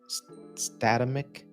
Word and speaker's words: Statamic: for sure the I'm going to say it wrong, whatever way I say it. Statamic stat. You got it right. You got it right this time.